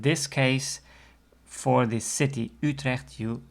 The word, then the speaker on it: Utrecht: also a major city Utrecht so that you the first letter of Utrecht is actually an exception to the rule because usually when you